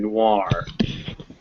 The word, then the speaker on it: noir: french and english that if you ever see a french word that ends o i r it's pronounced war so those words at the end are reservoir and noir two o's it's most